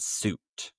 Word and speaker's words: suit: A common mistake is the difference between the verb fit and suit. And remember this pronunciation, suit. Exactly the same as a suit that you might wear.